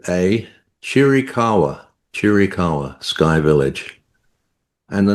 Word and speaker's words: Chiricahua: So So it's C H I R I C A H U A Chirikawa.